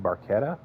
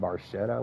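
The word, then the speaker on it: Barchetta: looks like a red Barquetta. Uh if you're a fan of Rush, uh you'll know that they have a song called Red Barcetta where they mispronounce it, but it sounds cooler.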